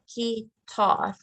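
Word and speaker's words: kitaar: You spell it K-I-T-A-A-R. Gitaar.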